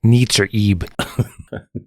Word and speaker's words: Nitzer Ebb: I never know how to I think pronounce it's Nitzer Ebb.